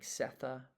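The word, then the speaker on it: Sethe: And then we discussed the pronunciation like Setha. That's S-E-T-H-E.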